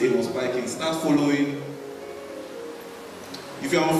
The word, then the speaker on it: Amos Pikings: Amos Pikings, the tech prophet. Start following. If you're on Facebook, start following. That's the Amos Pikings. Nigeria will call it Amos Pikin, but the pronunciation is Amos Pikings.